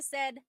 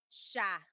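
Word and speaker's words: siya: But the si y combination that makes a sh sound.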